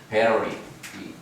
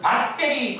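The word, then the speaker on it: battery: 베러리. 아주 이 전통 발음으로는 베러리라고 해요. 여러분은 밭대리 그러죠?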